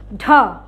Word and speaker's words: ঢ: একটু ধাক্কা দিয়ে বলতে হবে, এই উচ্চারণটা কি হ উচ্চারণ আসবে, ঢ। আর এর আগে যে বলেছি ড, সেটা কিন্তু অ উচ্চারণ এসেছে, ড, আর এটা হলো ঢ।